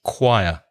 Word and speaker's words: choir: a choir and choral be careful of the pronunciation because the spelling has nothing to do with the pronunciation it the spelling is CH o I are but the pronunciation choir choir and you had a